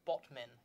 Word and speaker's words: Batman: And it's pronounced Botmin, I found out.